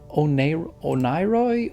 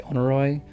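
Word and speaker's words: Oneiroi: can we onoroy and I think it's onroy or onroy. It's kind of actually kind of hard to pronounce it. Um, I wonder what this onoy I'm going to say onoy was.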